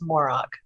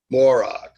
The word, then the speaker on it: Morock: i am here and my last name is morock morock yeah yeah so the